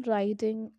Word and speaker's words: writing: third example i am writing a letter to my parents so which letter is silent in the example writing w is not pronouncing here we are not giving any pronunciation of w sound but here the letter